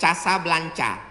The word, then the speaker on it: Casablanca: Ibu kotanya tulisannya Casablanca. Cara bacanya Casablanca.